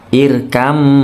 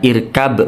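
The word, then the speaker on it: اركب: hurufnya sama sifatnya sama maka bnya melebur menuju Mim dengung mingkam ditahan Iram bukan irkab maana salah ya bacanya Iram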